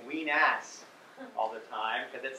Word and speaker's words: Wenas: time with a straight face to keep saying ween ass all the time because that sounds like something